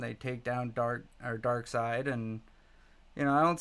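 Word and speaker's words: Darkseid: anti- monitor and uh Dark Seed or Dark Side. I said it wrong. I'm going to get in trouble. Uh Dark Side um you know are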